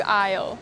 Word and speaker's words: aisle: Now I'm in the canned food aisle. Notice when I pronounce the word aisle I did not pronounce letter 'S" Aisle.